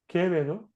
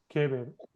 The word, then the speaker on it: Quevedo: Careful, I don't know who said Quevedo, but it would be Quevedo, Quito. The U, you do not pronounce the U. Quevedo.